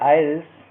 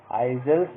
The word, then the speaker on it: isles: River आइल्स, ये dear students बता दूं, ये जो ISLES है, उसमें आई के बाद जो यस लगा हुआ है वो साइलेंट होता है। इसको हम आइजल्स नहीं पढ़ेंगे, बल्कि इसको हम प्रोनाउंस करेंगे आइल्स।